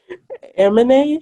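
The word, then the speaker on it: Aminé: Amine, it's Yeah.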